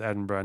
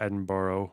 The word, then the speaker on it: Edinburgh: enough times that you would realize that it's pronounced Edinburgh not Edinboro but said people in chat are complaining as